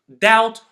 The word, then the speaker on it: doubt: the second case is when it comes before a t again at the end of a word or right before the end like Deb doubt or subtle the first rule is